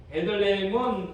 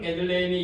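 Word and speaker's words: בית לחם: 이런 반면에 유대 베들레헴은 우리가 이 헬라말로 조금 정확하게 발음하면 베이트레헴입니다.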